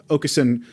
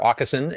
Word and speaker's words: Åkesson: to pronounce it because it is that Swedish letter that is the A with the little circle over it, which I believe is pronounced "å," and it is actually a letter after Z in the Swedish alphabet.